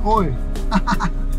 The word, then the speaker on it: oi: How you say hi in Portuguese is you say oi. Imagine like saying it in India, oi, oi.